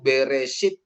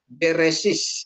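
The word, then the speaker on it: בְּרֵאשִׁית: Sehingga kalau dalam kejadian itu beresit gitu kan kalau dalam dialek eh Spardik dia mereka akan mengatakan beresis gitu ya, beresis gitu ya.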